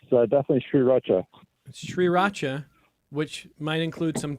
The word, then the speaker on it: Sriracha: lot in Rochester is Sri Racha, and which is SRI, but people pronounce it as if it's SIR, and that needs to be Sriracha, straightened out as soon as possible. Sriracha.